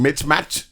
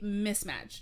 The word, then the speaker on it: mismatch: Yeah, the thing is, I've heard people say that, and I'm always like, where did Mitch come from? Yeah. No, okay, so you say mismatch.